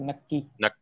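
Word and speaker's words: नक्की: How you pronounce this? Double K? Right, you pronounce it correct. Nakki.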